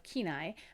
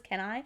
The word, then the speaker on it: Kenai: I thought it was Kenai, but it's Kenai, I guess.